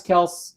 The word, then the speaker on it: Kelce: Travis Kelce is uh notice how I pronounced that, Jim.